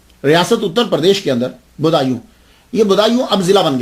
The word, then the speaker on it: بدایوں: گے، مسلمان بھی ہیں۔ اس کا تلفظ جو ہے وہ بدایوں ہے، کیونکہ یہ پرنس بوڈا جو ہے نا، اس کے نام کے اوپر اس سے یہ منسوب ہے، تو اس لیے اس کو بدایوں کہا جاتا ہے۔ لیکن بعد